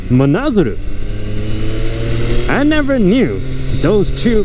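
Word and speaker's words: 真鶴: I just noticed that Mazuru, what I just said, the place is actually pronounced Manazaru.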